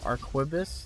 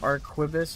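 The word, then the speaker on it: arquebus: it's the archivist um some pronunciations are aquibus like in it depending on where you're from archivist arquibus and arkabis and they're all correct also our killer all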